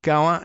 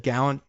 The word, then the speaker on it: Gallant: and former defense minister Yo Gall Gallant. God, said Gallant, it's pronounced that way.